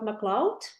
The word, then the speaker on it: McLeod: I am the founder of uh PDbody and today I am here with McCloud. Hi. Well done on pronouncing the surname.